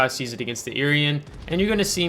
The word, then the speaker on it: Irian: And this Iowa and this Irian, that's how you pronounce the ship, are not going to be able to go dark because we have the speed.